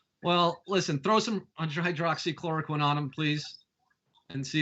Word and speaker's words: hydroxychloroquine: to say pronounce spell just think of this harley quinn loves Hydrox cookies hydroxychloroquine from me to you